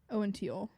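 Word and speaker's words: Owen Teale: But I just wasn't and I don't love Owen Theal. Really? Is that how you say his name? Owen Teal.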